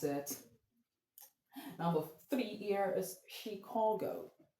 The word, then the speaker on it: Chicago: I'm saying Chicago because the word is a French word and it makes the CH even to take up a French means of being pronounced, French pronunciation, which because in French, you can't see anything like ch in French. When the CH you sound ch in the general English word, it sounds sh.